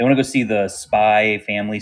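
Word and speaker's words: Spy × Family: to go see the Spy family spyx family yeah movie they get mad at you when you say spy X don't say X how Evelyn says it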